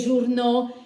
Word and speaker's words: journaux: trasformo in aux, quindi sarà le scritto les, journaux scritto, la pronuncio ovviamente les journaux.